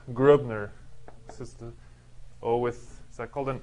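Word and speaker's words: Gröbner: this is i guess this is really said like grubner this is the or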